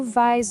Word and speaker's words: vas: Aqui, de novo, o S do vas não aparece e o som fica bem aberto, como um vá. Tu vas dormir.